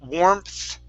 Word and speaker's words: warmth: warm warmth wow okay give me a th instead of an f sound instead of warmth it's warmth with your tongue warmth warm worm okay